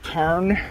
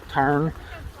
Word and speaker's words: Tarn: Or is it Tar? They don't say N. Tarn. So you don't pronounce the N at the end if it's followed by an A or something like that.